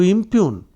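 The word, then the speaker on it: impugn: beating around the bush to impune I IM p u g and the g is silent to impune means to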